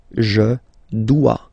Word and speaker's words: dois: Okay, remember final S is not pronounced. Je dois. OE, when you combine the two, you get the sound wa wa wa.